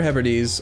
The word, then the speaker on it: Hebrides: right so he's trying to march onto outer hebrides on may the 7th we can rent contract